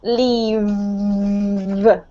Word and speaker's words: leave: But when you say the letter V, you have to expel air, but you also have to make a sound with your throat, right? Leave. Okay? When you have an F, a F, there's no sound coming out of your throat, so it's leaf. Okay? So the difference is leave and leaf.